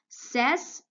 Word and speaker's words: says: says say says say you have the phonogram a why but it's not going to be pronounced okay the phonogram a a why it's not going to be pronounced because it is silent in this word and it only has one sound you're gonna say says says okay you're barely even hearing